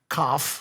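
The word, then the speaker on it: Kopf: It's Cop. Oh, Corinna Koff. Koff. Yeah. Is that how you say it? You don't Yeah. even say the P.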